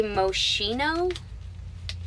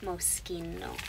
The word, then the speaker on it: Moschino: Moschino as a brand some of you might say moshino because that's how it's spelled but it's an Italian name and it is Moschino so we're just gonna